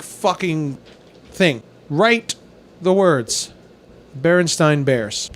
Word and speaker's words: Berenstain: That's Berenstain. Yes, it is Berenstain.